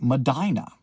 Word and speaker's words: Medina: Granger United Methodist Church in the town of Medina, Ohio. Now, I was uh corrected on a live. The pronunciation of this town is in fact Madina like the old song Dina that Bing Crosby